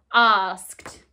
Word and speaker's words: asked: beginning ask and then just like looked it sounds like a but it's actually an ed asked and we've also seen